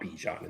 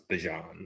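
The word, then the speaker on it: Bijan: That's how you pronounce his name. It's not Bejon, it's Bjon. like Deon Mustard.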